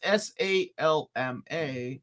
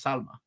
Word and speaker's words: Salma: if her name is s-a-l-m-a and her then her name is Salma right because that's the Spanish pronunciation of the name it's essay okay